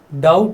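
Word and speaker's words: doubt: डाउट में ये जो बी होता है ये साइलेंट रहता है, डाउट नहीं बोलते इसको, नो डाउट, कि मुझे कोई शंका नहीं है।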